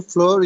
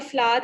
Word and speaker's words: flour: uh please there again some floor in the box yes there is some floor flower is the right pronunciation flower there is some